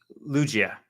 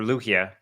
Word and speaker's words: Lugia: It's called Symphony of Lugia or Lugia, whatever you however you want to pronounce it, doesn't matter. As long as you know what it is, right?